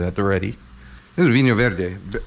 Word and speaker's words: Vinho Verde: and have it at the ready this is Vinho Verde being your biddie I pronounce it Portuguese wine green wine green isn't